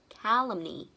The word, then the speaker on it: calumny: Và từ thứ hai, danh từ của nó là calumny. Nó lại là e bẹt nha, trọng âm lại rơi vấn tiết đầu tiên nha. Calumny.